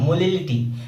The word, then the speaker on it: molality: वहीं पे अगर हमने बोला था कि स्मॉल m जहाँ पे आएगा उसमें L का प्रोनाउंसिएशन आ रहा होगा, मोलिलिटी, एक में मोलिरिटी दैट मीन्स A का प्रोनाउंसिएशन आ रहा होगा।